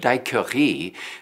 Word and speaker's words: daiquiri: a night of jazz although the French pronunciation of Dai Curry may sound strange I'm sure you know the English translation daiquiri The Daiquiri Cafe naturally